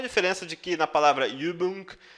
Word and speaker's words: Übung: Pratique a pronúncia do O e do U, por exemplo, você vai conseguir falar a do O. Übung, mögen, tá?